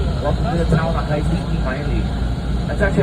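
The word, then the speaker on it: Haliimaile: Welcome to the town of Hailiki Maile. That's actually how it's pronounced, Hailiki Maile, guys.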